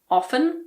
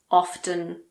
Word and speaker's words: often: In this word, some people pronounce the T and some people don't. It's your choice. I personally say often, so I don't pronounce it, but you can say often if you want.